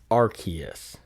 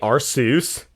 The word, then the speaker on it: Arceus: the 12th pokemon movie it is pronounced arceus rather than some people say are seuss because i guess it looks like zeus yeah or seuss and